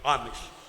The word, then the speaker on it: عامش: محمد بن عامش کا تلفظ بھی سمجھ لیں، الف عین میم شین، عامش، محمد بن عامش.